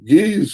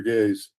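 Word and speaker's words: Ge'ez: And uh, uh, the geese is still spoken fluently in Am I saying that right, Bob? Is it geese or gays? Gays. Right. I had to say it right.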